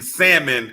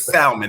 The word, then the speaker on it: salmon: let me say this the l in salmon is silent okay i want everybody